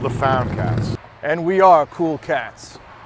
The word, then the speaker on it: Foundcats: So now that we found Jesus and we're not lost anymore, but found, and it rhymes with hound, we're now called the Foundcats.